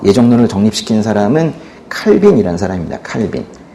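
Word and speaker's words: Calvin: 칼빈. 프랑스식 발음은 칼뱅인데요. 칼뱅.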